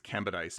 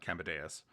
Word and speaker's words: Cambadise: It's Cambadise, not Cambadeus. I thought it was like a dais, like an altar, but no, it's George Cambadise.